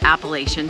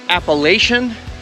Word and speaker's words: Appalachian: You can't come to Shenandoah National Park without hiking at least a little bit of the Appalachian Trail.